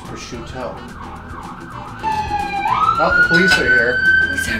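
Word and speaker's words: prosciutto: left out you know like I hear Italians people say Italians will say sometimes like I'll have the pursuit and I go oh that's how you say it and then I'll I'll be at a restaurant I'll have the pursuit and then people go no it's push to oh the police are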